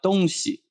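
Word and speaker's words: 东西: afterwards east west or when you put together don xi stuffs because in town dynasty people go to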